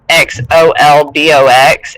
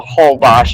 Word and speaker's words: Holbox: And I've said that on your channel before, but it's Xolbox, and it's in Mexico. Holbox is how you say it.